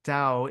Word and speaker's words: Dao: It's uh spelled seeds of and then the the Dao is spelled T AO uh like the Da Chang.